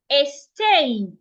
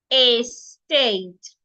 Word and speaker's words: estate: Now the word estate has two syllables. A state and you're stressing the second syllable state.